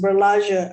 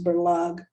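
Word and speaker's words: Berlage: with uh berlug bellagio some of you pronounced berlajja i think it's berlug and he's he he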